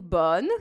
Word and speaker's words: bonne: é do bonne, que não tem essa letra E no final, não é bonnet nem boni, é só bonne. Acaba na letra N mesmo, um N bem marcado. E aqui, esse O, a gente pronuncia mais aberto, é O, né? Bonne, igual bola, né?